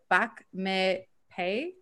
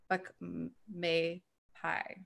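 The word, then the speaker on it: Bak Mei Pai: So Vladimir says, hi, has Sifu had any experience with Bak Me Pei? If so, can you share some advice? Bak Me Pai. P-A-I is pie. Pie. Okay, so pie instead of pay.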